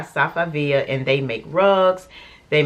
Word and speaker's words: Safavieh: it's made by some sapphire i think i pronounced it wrong on the last video but it's actually made by safavia and they make rugs